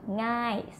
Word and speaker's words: ง่าย: Okay, like the word easy, ngai, spelling with ngo ngu, and then sala a, and then yo yak, ngai, easy.